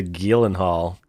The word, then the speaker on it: Gyllenhaal: the gilen hall Roadhouse the Gillen Hall that's how you pronounce it apparently Jake gelen Hall Jake glycerol he's that